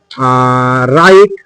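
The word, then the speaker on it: right: তাহলে কিন্তু জি এর উচ্চারণ বাজি এইচ এর উচ্চারণ হবে না। তাহলে আমরা এরকম ওয়ার্ড দেখে নিই যেমন আমরা লিখলাম যে রাইট আর আই জি এইচটি রাইট ব্রাইট বি আর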